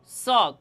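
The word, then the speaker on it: ص: ঠিক তেমনিভাবে এই সদ হরফটিও জিহ্বার আগা সামনের নিচের দুই তাতের আগা এবং সামান্য মধ্যখানে লাগাইয়া এই সদ হরফটি উচ্চারণ হবে। দেখেন আমি কিভাবে উচ্চারণ করি। সদ সদ সদ সদ।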